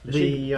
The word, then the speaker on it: Ledaig: Yes, Ledaig, by Ledaig even. Possibly one of the most nightmarishly spelled versus pronunciation Scottish words in existence.